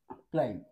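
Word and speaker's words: climb: गोष्ट आहे लक्षात घेण्यासारखी हा जो बी आहे याचा उच्चार होत नाही याला आपण म्हणतो सायलेंट लेटर ठीक आहे ज्याचा उच्चार स्पेलिंग मध्ये होत नाही त्याला आपण म्हणूया सायलेंट लेटर मग हा आहे क्ल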